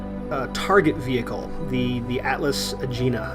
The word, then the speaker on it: Agena: vehicle the the atlas agena I think it's pronounced Gina the that mission failed